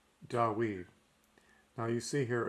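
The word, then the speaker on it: דוד: And we know from the Septuagint and the New Testament that it's Dawid because it's spelled with a U sound.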